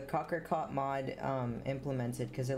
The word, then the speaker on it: cocricot: 1.12.2 mod with the cockroach i keep saying it wrong but why it's right but i keep trying struggling to say it the cocker caught mod um implemented because